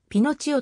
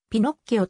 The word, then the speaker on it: ピノッキオ: 愛称でもあるかつては綴りを英語式に pinocchio と読むことも多かった現在ではイタリア語式にピノっ気をと読むのが一般的である pinocchio の名前を